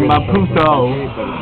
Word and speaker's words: Maputo: So I just came back from Maputo again, or Maputo, and I went to go say goodbye to a good friend of mine who y'all meet.